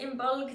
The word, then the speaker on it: Imbolc: out that yeah in modern irish it is pronounced in bulk that's why you're trying to say in bulk